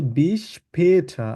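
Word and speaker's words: bis später: এটাকে আমরা বলবো হচ্ছে বিষ পেঠা আবার বলুন বিষ পেটা বিষ পেটা পেকে আমরা তালিবের মত অনেকটা এভাবে উচ্চারণ করব আবার বলুন পেঠটা এভাবে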